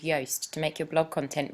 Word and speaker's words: Yoast: be looking for is a plugin called yast y a s so rhymes with toast um we have ours